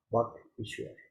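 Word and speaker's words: वागीश्वर: I think correct pronunciation should be walk Ishwar. Yeah, walk means the speech. Ishwar means the Lord.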